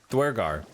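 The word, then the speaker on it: Duergar: Dwergar.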